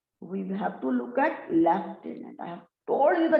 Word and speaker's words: lieutenant: Lieutenant, not lieutenant. I think very clear up to this particular point, there is no doubt about it. So in British English, we pronounce it as lieutenant. But on the other hand, if we look at the American English, it's lieutenant.